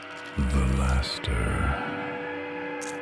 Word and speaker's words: Velaster: The Laster. That's how you pronounce it.